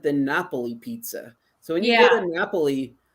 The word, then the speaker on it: Napoli: Napoli Pizza so yeah Napoli Naples as we say in the United States but they said Napoli don't sit Naples say Napoli when you're there okay that's how they